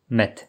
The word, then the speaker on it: med: Comparez les mots met, miel et mec, cuivre. Ah, et ils s'écrivent avec un D, mais on le prononce comme un T parce que les consonnes sont assourdies en fin de mot comme en allemand.